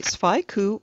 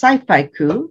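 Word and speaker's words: scifaiku: elgin finalist for her book the planets a sphy coup poetry collection wendy's short stories and poems have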